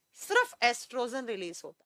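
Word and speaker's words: oestrogen: जाता है एस्ट्रोजन को, एस्ट्रोजन को ओ से लिखा जाता है लेकिन प्रोनाउंस एस्ट्रोजन ई से किया जाता है।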